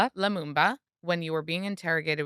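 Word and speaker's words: Lumumba: Because he didn't Patrick, I don't want to say his last name wrong. Leumba. Leamumba.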